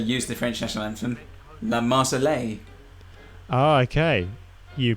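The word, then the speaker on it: La Marseillaise: like i said use the french national anthem la marsali oh okay you pronounced it correctly well i don't know that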